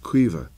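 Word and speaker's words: Caoimhe: have a a cousin called Kea which is C a o i m h e so the sound is uh Irish so it be qua or E there'd be a little you know what I mean a little dip thong in there rather than just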